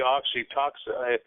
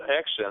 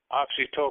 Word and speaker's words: oxytocin: co uh called oxyen would be oxytoxin it's not exen it's toxin it's spelled o x y t o c i n it could could be pronounced oxy toen U although oxyen has